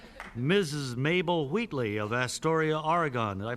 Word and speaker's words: Oregon: Mabel Wheatley of Astoria, Oregon. Did I pronounce that correctly, Miss Wheatley? Yes, Oregon.